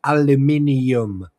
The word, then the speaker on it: aluminium: And the correct pronunciation for that material is aluminium. No, it's not. It's aluminium. Do you see another I between N and U?